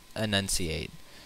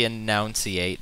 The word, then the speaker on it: enunciate: that announciator enunciate because i think it's an enunciate some people say announcyate and it just drives me nuts so look it up